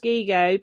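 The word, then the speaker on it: gigot: in there well particularly it's pronounced gigo because that's it's g go t and if the t is not pronounced in French isn't it who can say w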